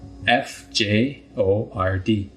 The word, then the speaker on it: fjord: funny word it's spelled FJ o r d Fjord but we don't pronounce the J so fjords are deep